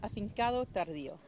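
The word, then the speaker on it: Afincado Tardío: The proper pronunciation, well, you know, I'm not a native speaker, but because I lived there for a few years, it's Afincado Tardio.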